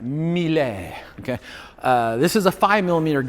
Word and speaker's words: Mille: This is you got to say it like that, Mille, okay?